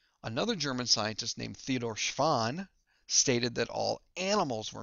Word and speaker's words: Schwann: Now, a great way to remember the difference between these two guys, Schwann sounds like the word swan, and remember, swans are animals.